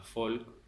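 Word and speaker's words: Volk: de conceptos de volcó el alemán se pronuncia folk qué es un concepto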